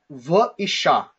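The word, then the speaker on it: וְאִשָּׁה: So the word here is v'isha. V'isha. That's how we pronounce this word with the conjunction.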